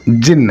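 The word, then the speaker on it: jinn: जिन, pronounced जिन, इसको क्या बोलते हैं?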